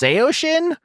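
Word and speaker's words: Saosin: away beau burchell who is the guitarist of seo shin which i just learned is pronounced seo shin which is like a derivative of a chinese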